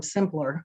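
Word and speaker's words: Symplur: it was a it was an email from simpler um because i i didn't include them in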